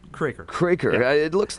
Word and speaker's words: Kroeker: Kroeker. Kroeker. Yeah. It looks like Kroeker, man. It really does. It's pronounced either way, so it doesn't matter.